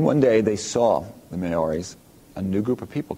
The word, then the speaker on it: Maori: One is from New Zealand, and it has to do with the Maori. Let me spell that.